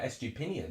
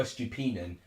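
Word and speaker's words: Estupiñán: Most goal involvements this season, joint most with Oscar Estupinian, actually. Or Estupinian, depending how you say it. I say Pinion, to be honest.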